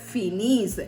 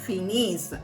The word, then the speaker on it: finissent: ஆனால் ப்ரொனவுன்ஸ் பண்ணுறது ஃபினிஸ், ஏஎன்தே pronounce பண்ண மாட்டோம், ஃபினிஸ் அப்படின்னு தான் ப்ரொனவுன்ஸ் பண்ணுவோம்.